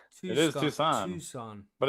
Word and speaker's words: Tucson: in the U of A College of Medicine, Tucson's Department of Pharmacology. This study... Pronounced Tucson. I stand corrected. Tucson. I know, right? Tucson. I don't know what it is either. It's Tucson. It is Tucson.